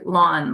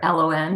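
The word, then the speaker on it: ln: some extent okay so this is pronounced like lawn like your front lawn okay or l n however you want to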